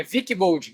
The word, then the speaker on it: Wickbold: Nada mais, a pronúncia está certa. É Wilkebon.